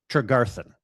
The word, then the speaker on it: Tregarthen: With me today is my guest, Garden. did I get the pronunciation of your last name correctly? Trigaran.